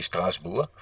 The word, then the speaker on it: Strasbourg: I don't know how you pronounce it in English, but in French they say "Hey Strasbourg," or in Dutch "Straatsburg."